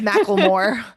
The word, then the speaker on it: McLemore: Micklemore? Mclemore. Macklemore? I don't think it's Macklemore. Because sometimes Maybe. people pronounce that Mick with, yeah, I don't know. Yeah, it could be. It's Macklemore.